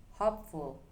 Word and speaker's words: hopeful: Example number one, hopeful. Hopeful. The stress stays on hope.